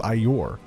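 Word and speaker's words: Aiur: here for defensive measures it is iore it's what it's how zeratul pronounces it in starcraft one he goes i your and listen he was born on ior so he probably knows or maybe he was born on shakur ass i don't know either way he pronounces it weird and he's supposed to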